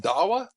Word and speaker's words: Dawa: opens the door and i said dawa and he said mr mark and i said yeah and he's and he said oh you pronounced my name correctly and that was our